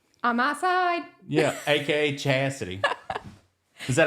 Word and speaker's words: Chasity: in the bathroom on my side yeah AKA chassity is that how you say it I sounded super redneck saying that chity yeah but I was chassity chassity most people don't know how to it's